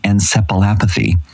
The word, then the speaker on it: encephalopathy: brain injury called vaccine encephalopathy. Encephalopathy is the right way to say that word, which could result in permanent damage.